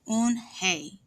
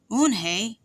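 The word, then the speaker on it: Unhei: Yes, it's pronounced Eunhye, and it means grace, Mr. Kim added. Eunhye, Joey said slowly, and this time perfectly.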